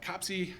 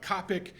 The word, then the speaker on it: COPC: hear me call it copsy you might hear me call it copic um there's actually a section in the specification about possible pronunciations for it and I don't really care um but the idea